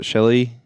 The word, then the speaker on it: Shelagh: Phil Brown is Uncle Owen, and Shelley. It's spelled very interestingly, almost like Shillelagh.